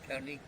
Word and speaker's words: Kearney: Carney. How do you spell it?